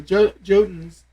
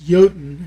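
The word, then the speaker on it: Jotun: finally started hitting the jotins and then actually it's yotan if you want to pronounce it in the true scandinavian but yeah uh yotans once we started fighting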